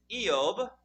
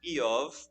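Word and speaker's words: אִיּוֹב: In Hebrew, the name is Eob, or sometimes Eov, depending on how you want to pronounce that last letter.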